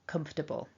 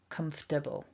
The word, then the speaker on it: comfortable: insight really is that many native speakers myself included will often say this word so quickly that it doesn't sound like four syllables it actually sounds like three syllables so here we're working with four so comfortable but when i'm speaking informally i will definitely say comfortable it's so quick and it becomes three syllables comfortable so yeah so